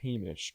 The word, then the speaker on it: Hamish: His name is pronounced Hamish, correct? Yes. Hamish.